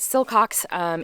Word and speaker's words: Silcox: I'm saying this a silcox silcox is how you say it um I said it wrong at the beginning of the video but silcox is they are just